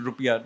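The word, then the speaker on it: rupiah: Its currency is the rupia. I mean it's the correct actually the correct pronunciation rupia and that's why yeah the national symbol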